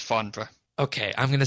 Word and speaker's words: Farnborough: But this is a brand new venue at Farnborough, which is effectively at the airport there. It's Farnborough. British people don't pronounce half their vowels. It's Farnborough.